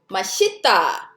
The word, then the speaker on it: 맛있다: So 이응, we already know that's silent. So this 시옷 actually blends to the next syllable. That's why it sounds like 맛있다, 맛있어.